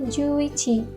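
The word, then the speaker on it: 十一: dan satu 10 itu Nganjuk satu Ichi jadi bacanya jadi juichi Nah di sini aku punya samri tapi karena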